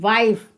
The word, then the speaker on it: wife: तो आप देख सकते हैं यहाँ पर यदि पूर्ववर्ती स्वर आई हो तो उस आई का उच्चारण आई होता है। तो आप यहाँ पर देख सकते हैं WIFE। तो ई से पहले एक कॉन्सोनेंट लेटर आ रहा है और कॉन्सोनेंट लेटर से पहले क्या आ रहा है? आई, एक वोवेल लेटर आ रहा है। तो यहाँ पर WIFE। तो इसका उच्चारण हम क्या पढ़ेंगे? आई। तो WIFE, वाइफ।